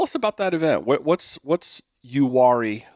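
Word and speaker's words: Uwharrie: Uhari. close. Uwari, I believe, is how it's.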